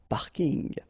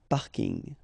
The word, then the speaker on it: parking: parking as well so I know it's coming from English but still you should pronounce it the French way parking parking okay and the last